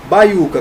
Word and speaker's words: baiuca: A mais forte, a sílaba tônica, está na penúltima, que é o U.